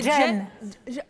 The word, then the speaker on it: Jane: Est-ce qu'on dit Jane ou Jeanne? C'est Jane. Comment? Ça s'écrit J-A-N-E.